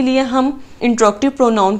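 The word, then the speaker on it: interrogative: Okay जी, next है हमारे पास इंट्रोगेटिव pronoun. सबसे पहले तो इसकी प्रोनाउंसिएशन आप अपनी ठीक करें। जनरली इसको बोला जाता है इंटेरोगेटिव, जबकि ये गलत है। इंट्रोगेटिव इज़ the right word.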